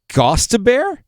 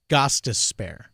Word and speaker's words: Gostisbehere: Shane Gostisbehere? Gostisbehere. Gostisbehere? Gostisbehere. You got any change to spare? Gostisbehere.